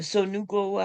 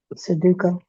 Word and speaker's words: Sudoku: It only took me a few minutes to figure out how to play um the Sonuko. How you pronounce it again? Sudoku.